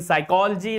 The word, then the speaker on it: psychology: So, eighth rule says that if there is a P just before S, the P is going to be silent. You are not going to spell the sound of P. Like in psychology, like in psalm, like in pseudo.